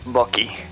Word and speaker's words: Bucky: Vemos también la introducción de Sebastian Stan como el Bucky, que es una broma local, pero bueno, la pronunciación correcta es Bucky.